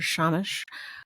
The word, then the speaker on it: shamash: and it's called the shamas. Or shamash. I never say it right. It always sounds like I am lisping when I say it correctly. It just doesn't sound like I'm saying it correctly, but I am.